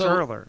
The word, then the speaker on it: Ehrler: most people can't write because it's earlier it's earlier so I'm gonna spell